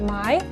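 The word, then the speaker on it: Myne: a body of a young five-year-old girl named mai i call her mai again i just read it um it's spelled m-y-n-e and she finds herself in the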